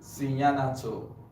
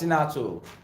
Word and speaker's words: cyanato: Exactly, cyanato. Exactly. See ya na to. Or you pronounce it as sinato as well.